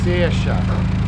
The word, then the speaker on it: Saoirse: Saoirse. Saoirse. Saoirse. As in Saoirse Ronan, the actress.